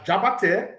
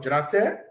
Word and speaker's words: Jrate: So they refer to me as Jabate instead of Jrate for one reason, and that reason was to associate.